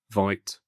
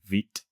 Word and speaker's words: Vite: So I just checked the pronunciation for the first option here and it's actually vit not v.